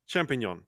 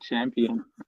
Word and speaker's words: champignon: Champignon, yeah, the French ones. I mispronounced it. I said champion. No.